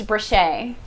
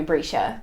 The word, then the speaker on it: Brescia: If you guys know my real name's Brochet, but everyone calls me Brescia because the way it's spelled, it's Brescia. But everyone forgets. Oh my god. But everyone forgets the I. So Oh. so it's Brochet, but everyone calls me Brisha.